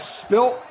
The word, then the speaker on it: spilt: I have I have spilt I have spilt a beverage interesting that you call that you that you pronounce it with the T spilt SP p i l t isn't that